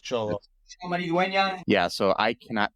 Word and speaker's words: Xolo: Okay, Cholo. Yeah, because XOLO, but Cholo is pronounced Cholo.